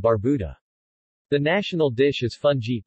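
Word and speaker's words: fungee: the national dish is fun G pronounced foon G in pepper fun G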